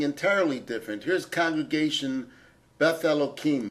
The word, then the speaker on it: Elohim: different here's Congregation Beth Elohim the congregation pronounces it with an H we pronounce it with a cut sound so that we do